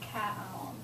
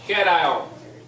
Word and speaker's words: cation: I look at that, I'm just gonna say it like cat on. I got you. It's all good. Okay, cation.